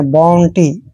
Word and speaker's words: bounty: दोस्तों बी का उच्चारण हमने यहाँ पर बे करना है, OU का उच्चारण ओ करते हैं, ऐसे ओ। एन को आधा ने और टी को टे पढ़ना है और वाई को ई की मात्रा पढ़ना है, बाउंटी, ऐसे।